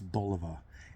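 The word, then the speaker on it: Bulova: the 60s and70s and you'll hear the pronunciation um it's boliva and you know believe me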